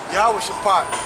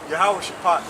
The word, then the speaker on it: YAHAWASHI: How you pronounce it in Hebrew is YAHAWASHI, okay? Meaning the Most High judgment. That's what it means, judgment. YAHAWASHI.